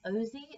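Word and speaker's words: Orczy: is The Scarlet Pimpernel by Baroness Ozy, I think is how it's pronounced, her last name. I looked it up, and it's not spelled Ozy, but I think it's pronounced Ozy.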